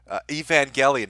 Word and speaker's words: Evangelion: a spine the beauty that is Mia genesis evangelion see I said it right Evangelion well that